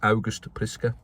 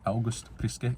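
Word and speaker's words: August Priske: apparently, as his name is meant to be pronounced. August Priska. August Priska.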